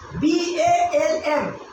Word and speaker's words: balm: BALM. L is silent here and we see one bomb.